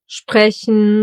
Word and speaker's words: Sprechen: And in the combination with the letter P, it gets pronounced as Shpa. Like in Stift, Stuhl, Sprechen, or Strasse.